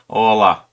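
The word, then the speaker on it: Orlah: Big Ching's Ola or Ole. Ola. Yeah, imagine like Spanish, Hola. Hola.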